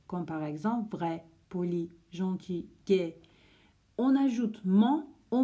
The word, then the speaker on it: gentil: Gentil, il y a un L, mais le L, on ne prononce pas le L, donc c'est comme s'il y avait un I à la fin.